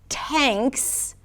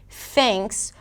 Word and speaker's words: thanks: And then the word 'tahnks' might be perceived as "tanks" - with a T, versus "thanks" - with a TH.